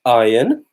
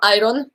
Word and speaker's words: iron: The next one was iron. Żelazo. I to jest ważne, bo często ludzie popełniają błąd w wymowie. Pisze się to iryony i często ludzie mówią iron, ale Iron. mówi się iron.